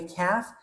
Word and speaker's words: calf: Okay, by the way, calf, the L is silent.